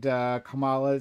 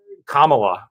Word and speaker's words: Kamala: Look, Kamala, which is how I understand her name is pronounced, lost the last primary pretty handedly, got just destroyed.